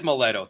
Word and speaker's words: Maletto: Am I pronouncing it right? Is it Maletto? It is Maletto.